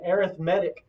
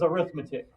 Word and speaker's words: arithmetic: Depending on what you're using it for is how you say it. So if you're using it as an adjective, okay, like this would be an arithmetic sequence because that's telling you what kind of sequence it is. Adjective is arithmetic, noun is arithmetic.